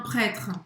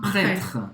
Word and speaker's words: prêtre: Presta atenção que o E no final de prêtre a gente não vai pronunciar. A pronúncia da frase se conclui no R.